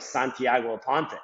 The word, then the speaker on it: Santiago Aponte: And I started saying my name like Santiago Aponte, which is like, the American way of saying the name.